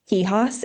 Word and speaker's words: Quijas: Kihos is not easy. Q U I J A S on LinkedIn.